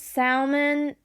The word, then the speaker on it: salmon: Salmon, I think, because Sal, S-A-L. But it's just pronounced salmon.